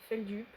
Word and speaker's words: Feldup: Donc voilà, Feldup, comme ça se prononce, F-E-L-D-U-P.